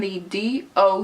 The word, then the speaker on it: The Doux: in so ya called the do and that's the like normal D and the D o u X and it's pronounced the do and it says it on the back of the jar I'll insert some b-roll